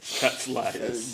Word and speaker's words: Cawd Slaydaz: Yeah, we usually say Cawd Slaydaz, so we kind of scream it. Cawd Slaydaz.